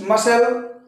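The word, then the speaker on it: muscle: तो friends मसल, यस के बाद सी, और यहाँ भी यस के बाद सी आए कहिए, चाहे सी के पहले अगर यस आए तो सी का उच्चारण साइलेंट हो रहा आप देख रहे हैं।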